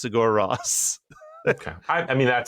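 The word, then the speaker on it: Sigur Rós: I always just pronounced it Sugar Rose. Sugar Rose. Friend of Sugar Ray. No, I believe I don't know who pronounced it to me like that, but I'm pretty sure it's pronounced Sigor Ross.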